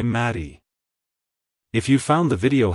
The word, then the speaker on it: Mattie: it's pronounced as Marie Maddie Maddie to pronounce it correctly emphasize the mat and the e e at the end the is a short vowel sound like hello Maddie goodbye Maddie if you found the